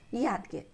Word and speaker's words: यादगीर: यहाँ दा में नीचे हलंत लगा हुआ है, यानी दा का अर्ध उच्चारण है। ठीक है, विद्यालय यादगीर।